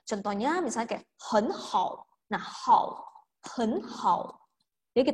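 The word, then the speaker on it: 很好: Pas kita baca hen hao, si hen ini akan harus berubah menjadi nada 2. Jadi dibaca hen hao.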